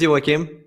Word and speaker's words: Joakim: no problem i mean it's a swedish name so hi everybody my name is iwakim i have a channel